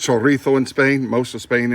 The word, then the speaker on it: chorizo: with Spanish chorizo it's already cooked it is pronounced chorizo in Spain most of Spain anyway probably not